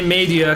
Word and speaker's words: Media: I say Media because I'm pronouncing it in Japanese, by the way.